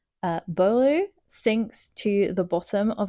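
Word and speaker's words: Beaulieu: 12-year-old Eevee, I do not know how to say her surname. Bolu. It's definitely um French. Uh, Bolu sinks to the bottom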